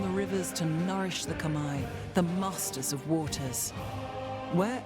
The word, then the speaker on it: Khmer: rivers to nourish the Khmer, the masters of waters. Where else will their rains fall? Oh, it's the Khmer. That's pretty interesting. I would never have thought to pronounce it like that.